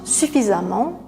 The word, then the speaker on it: suffisamment: Suffisant, on enlève la terminaison en, on ajoute amant, on prononce amant suffisamment, il mange suffisamment de fruits chaque jour.